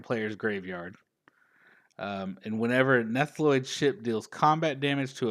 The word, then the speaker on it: Nautiloid: Some of my favorite cards are the artifacts, like the I never say this word right, Nautiloid ship.